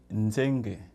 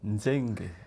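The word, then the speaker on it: Ndzengue: Alors, mon nom de famille, c'est Nzenge. Nzenge. Nzenge s'écrit N-D-Z-E-N-G-U-E. Alors, tu répètes comment on prononce ça? Nzenge.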